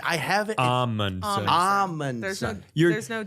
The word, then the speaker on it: Amundson: Amundsen, just almond with no L.